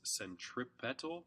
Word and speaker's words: centripetal: It's important to recognize that this is pronounced centripetal, P-E-T-A-L, and not centrifugal, F-U-G-A-L, which means center fleeing, and is not a thing.